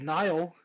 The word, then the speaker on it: Nile: Well, we'll see you next time, where we'll be reading a story called Nile. Like nihilism, like the first syllable of it.